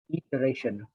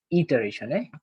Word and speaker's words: iteration: So question number one, the correct answer is iteration. Okay. By the way, the pronunciation is iteration, IT.